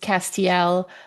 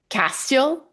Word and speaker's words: Castiel: So, it's kind of like the way that Jared Pedle sort of for a really long time pronounced Castiel, like Castile, which was always weird to me.